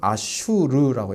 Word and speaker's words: 아슈르: 아수르는 아슈르라고 읽어야 됩니다. 아슈르. 우리가 읽기가 너무 복잡하니까 단순화시켜서 아수르 이렇게 읽고 있습니다.